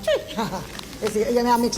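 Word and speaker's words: Twi: It's spelled T-W-I, but it's pronounced tree.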